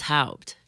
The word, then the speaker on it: Haupt: My maiden name was Haupt, like Herr Hauptmann.